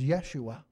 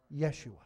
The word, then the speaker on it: Yeshua: be afraid you know the Hebrew word for salvation is Yeshua meaning safety deliverance salvation and that's exactly how you pronounce in Jesus in Hebrew Yeshua and so he's the